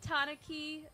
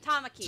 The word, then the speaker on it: Tamaki: I think Tanaki, right? That's how you pronounce her name? Tamaki. Tamaki, excuse me.